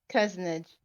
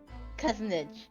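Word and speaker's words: cozenage: And cousinage is how the Google pronounces it.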